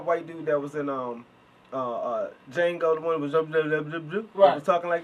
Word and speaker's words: Django: Django, you know, the people D talk- is silent, It's just so y'all awesome.